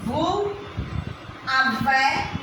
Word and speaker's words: vous avez: We pronounce the letter S. Nous avons means it becomes nous avons. Vous avez, you have, after vous, the have is avez in French.